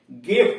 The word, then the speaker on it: gift: है, आई भी आ रहा है, फिर भी उच्चारण इसका गो हो रहा है। गिफ्ट, GIFT, गिफ्ट।